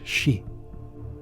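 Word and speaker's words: 四: bad luck such as in Japan where it is pronounced she she also happens to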